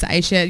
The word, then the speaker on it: Aisha: Like, it's not just like a suggestion when I say my name's Aisha. You don't just get to choose whatever you're most comfortable with pronouncing.